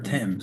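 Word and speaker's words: Thames: Why river Tims? I mean, well, Tims is how you say it in English. Is how you say it in Connecticut. Now, if you're in Connecticut,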